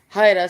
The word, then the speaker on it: Jara: Clark County School District, Jesus Jara or Haida, since you know, specific people don't know how to correctly pronounce it.